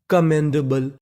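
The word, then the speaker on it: commendable: कहने का मतलब यहां पर एम हमारा दो बार है। लेकिन पढ़ना हमें खाली एक बार है।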